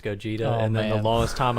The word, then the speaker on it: Gogeta: I grew up and I realized that it wasn't go getta it ended up being pronounced Gogeta and then the longest